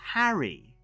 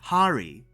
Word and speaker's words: Hari: show that even though they keep mispronouncing his first name as Harry. It's not Harry. He's not Harry Potter. He's Harry Seldon.